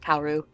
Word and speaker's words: Kaworu: I think I look at his name more than I hear it out loud, so I always pronounce it phonetically. But Kaworu.